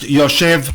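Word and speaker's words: ישב: The very first time we have this shoresh in the present tense, the spelling is Yud Shin Bet, pronounced Yoshev but with a missing Vav.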